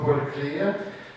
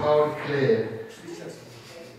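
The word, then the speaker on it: Пауль Клее: Реплика касается фамилии художника Пауля Клерик, которая была на французский манер, там написано, это правда, на французский манер произнесено Поль Клея, хотя он немецкий художник, и читается как Пауль Клея.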